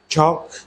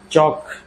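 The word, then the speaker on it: chalk: ওয়াক, চক, চক, এল এর উচ্চারণ আমরা আর কিন্তু এখানে করব না।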